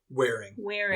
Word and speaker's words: Waring: Waring? Wearing.